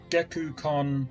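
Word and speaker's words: Gekkoukan: there when this happened to you ah Geck geeku hi that's how you that's how you pronounce it cool nice not that I was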